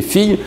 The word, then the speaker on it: fille: « Garçon », c'est un des mots extrêmement irrégulier avec le CCD, et « fille », c'est aussi tout à fait irrégulier avec le double L qui doit être prononcé « ye ».